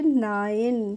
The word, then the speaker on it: nine: देखिए फ्रेंड्स, जब भी किसी वर्ड में INE एक साथ लगे रहते हैं तो उनका हम प्रोनाउंसिएशन करते हैं आइन।